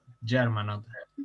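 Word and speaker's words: Germanotta: ¿Cómo se pronuncia y esa G? Germanota.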